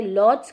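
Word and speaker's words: Łódź: वैसे आप इसे अगर इंग्लिश में कहीं सर्च करते हो या प्रोनाउंस करते हो तो आप इसे लॉड्स कहते हो, बट यहाँ पर यहाँ की पोलिश लैंग्वेज में इसे ऊज कहा जाता है।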